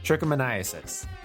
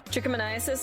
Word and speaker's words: trichomoniasis: that and you're like um no it's actually pronounced a trick of my own well that's not how it's written Tremonti osis trichomoniasis trichomoniasis they say it yeah okay trichomoniasis jihad so